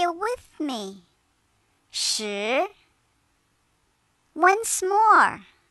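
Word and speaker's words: 十: number 10 in chinese she it sounds like the word shirt without the tea now say it with me sure once more how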